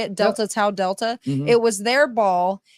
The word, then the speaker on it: Delta Tau Delta: How do you pronounce that? Delta Tau Delta? Tau, is that how you say it? Delta Tau Delta.